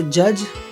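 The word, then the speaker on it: judge: डी के बाद जी आने पर, डी के बाद जी आने पर डी का उच्चारण नहीं होता, जैसे जज, बजट, ब्रिज, ऑक्सब्रिज, ऐसे वर्ड्स, ठीक है।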